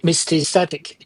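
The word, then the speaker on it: Mysticeti: So let's talk about the mistatic. Did I pronounce it right?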